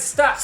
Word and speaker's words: Stacks: Stacks. It's Stacks. sticks. Right. It rhymes with tracks.